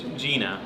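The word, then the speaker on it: Jena: You say, how do you say it? I think Gina. Yeah, but you say it like it's a facility. You say it in like almost Arabic. You say Jenna. Gina. Yeah, Gina. Gina.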